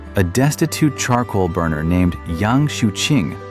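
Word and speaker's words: Yang Xiuqing: In the chaos, a destitute charcoal burner named Yang Shuing, pronounced Yang Shuing, a man who was illiterate but possessed extraordinary cunning, suddenly collapsed to the ground, foaming at the mouth.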